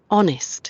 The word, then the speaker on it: honest: Honest. Honest. Honest. Honest. La palabra se escribe con H, pero en la pronunciación la H no suena.